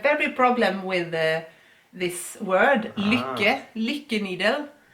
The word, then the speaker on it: lykke: They have very problem with this word, lykke needle. It's a Norwegian word, and since Robert speaks Norwegian all day and all night, all the time, he knows exactly how this is pronounced.